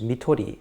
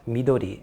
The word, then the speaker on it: mitori: And by the way, the term is midtorii, not midori, as it's occasionally mispronounced.